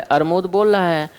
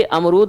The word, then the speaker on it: अमरूद: और प्राथमिक स्तर पर ये हमारा कर्तव्य बनता है, ये शिक्षक का या जो अध्यापक है उसका नैतिक दायित्व बनता है कि उसे इसका उच्चारण सही करवाना चाहिए और उसको प्रयास करना चाहिए कि अमरूद बोले, ना कि वो अरमूद।